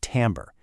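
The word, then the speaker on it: timbre: You pronounce it tambber.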